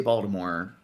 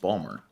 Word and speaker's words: Baltimore: it's like burgundi burgundi that raising girl didn't pronounce the right way the right way to say Baltimore It's Not Baltimore it's just Balmer no yeah no yeah and then uh everyone